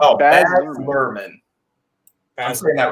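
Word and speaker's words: Baz Luhrmann: up a little bit when you're saying oh bad merman i'm screwing that right yeah you got it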